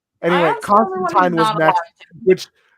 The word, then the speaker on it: Constantine: It is like they in like the way it's actually pronounced is Constantine.